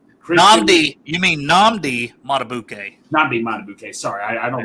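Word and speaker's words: Madubuike: How do you pronounce it for the Ravens? Hill. Justin. Matabuke.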